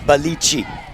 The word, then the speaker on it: Boliche: And I think that's the right way to say it, Boliche.